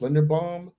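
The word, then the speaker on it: Linderbaum: the linda lin uh i believe his last name is pronounced lender bomb out of iowa yeah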